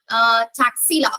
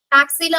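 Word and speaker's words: Taxila: சோ பாருங்க, டாக்ஸிலா R Takshashila எப்படினாலும் சொல்லிக்கலாம். டாக்ஸிலா அப்படிங்கிறது இங்கிலீஷ்ல அதை ப்ரொனவுன்ஸ் பண்றது.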